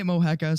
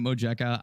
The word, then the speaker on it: Mojica: your name uh I I say Mojica some people say it Mojica I don't really care yeah I would have gone mohaka Tucker's guys I said